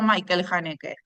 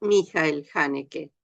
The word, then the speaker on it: Michael Haneke: hanek o Michael hanek Bueno en realidad como él es austríaco alemán este es mijael hanek precisamente eh Claro que en muchas partes la pronunciación alemana eh A veces se adapta al al inglés no es cierto entonces aparecen los Michael pero en realidad es Mel Mel janek perfecto Sí él es